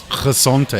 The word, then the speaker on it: Gezondheid: Gezondheid.